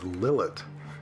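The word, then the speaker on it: לילית: Here's what Lilith looks like pronounced as Lylit in Hebrew.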